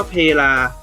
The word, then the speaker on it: เพลา: เขียน เหมือน กัน เลย แต่ อ่าน ว่า เพ ลา นะ ครับ นะ เขียน เหมือน กัน